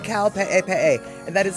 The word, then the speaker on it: Kaupe'epe'e: It's called Kaupe'epe'e, and that is spelled Kaupe'epe'e, Kaupe'epe'e.